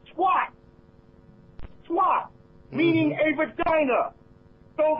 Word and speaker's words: Tuat: The underworld is called Tuat, T-U-A-T. But when you listen to the word Tuat, it sounds like the word twat.